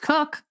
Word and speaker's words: Coke: going to have to explain why c-o-k-e is pronounced cook yeah I'm curious about that all I can